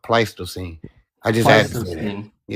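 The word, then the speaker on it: Pleistocene: Sage, for the record, the word is pronounced pletosine.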